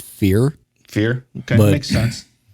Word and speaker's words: Fier: Am I pronouncing that right, Rick? I always pronounced it fear.